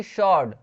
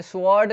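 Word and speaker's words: sword: और उसके बाद देखिए शॉर्ड, शॉर्ड में इसमें डब्लू जो है ना वो साइलेंट रहता है, इसमें स्वॉर्ड नहीं बोलते, इसको बोलते हैं शॉर्ड, शॉर्ड, शॉर्ड, शॉर्ड मतलब तलवार।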